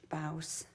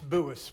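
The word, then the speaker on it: Buas: It's Buis, but that's okay. It's hard to pronounce. Boas. Buis, B-U-A-S, and I'm at 256 Ramona Drive.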